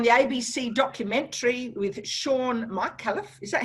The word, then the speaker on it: Micallef: Now, you featured on the ABC documentary with Shaun Micallef. Is that how you pronounce his name? Yeah, Shaun Micallef.